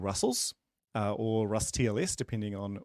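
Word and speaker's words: rustls: by John Ass, and he pronounces it Russell's, so I so do.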